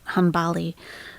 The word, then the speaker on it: Hanbali: so this is um he's saying henbali I would pronounce it hanbali a hanbali jurist so